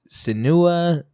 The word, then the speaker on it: Senua: Senua, it's Senua. It's Senua. If It's- anyone's wondering to how to pronounce it, it's Senua.